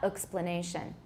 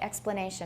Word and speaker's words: explanation: It's not explanation. You could say it, explanation, but it sounds a little odd. I usually say explanation. I use a full vowel there.